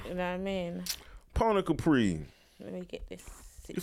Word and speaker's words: Poni Capri: And then how I spell, I be thinking it's Poni. So it's so it's Pony. Yeah. Pony Capri.